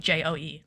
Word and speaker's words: DJO: Not Joe like J O E. That is his name, but he goes by DJO when he makes music. Like that's how you spell it. DJ O, but it's pronounced Joe.